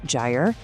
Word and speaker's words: Gyre: He's the founder of a tool called Gy. And by the way, that's pronounced GRE.